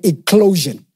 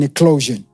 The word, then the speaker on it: eclosion: I want you to get ready to experience what is called an eclosion. Word eclosion is spelled E-C-L-O-S-I-O-N.